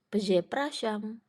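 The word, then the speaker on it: przepraszam: Z Pras zam oke di sini kita punya digraf RZ berarti r-nya hilang enggak dibaca dan SZ yang dibaca jadi se jadi cara bacanya peze praam peze prasam artinya maaf atau Permisi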